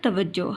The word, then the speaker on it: توجہ: یہ دونوں غلط ہیں۔ جیم کے نیچے زیر اور اوپر زبر کی علامت نہیں آئے گی، بلکہ اس کے اوپر پیش کی علامت آئے گی اور ساتھ میں ہم شد لگائیں گے۔ شد سے یہ ظاہر ہوگا کہ یہ لفظ 2 بار پڑھا جائے گا، تو لفظ بن جائے گا توجہ۔ ہمیں اپنی پڑھائی پر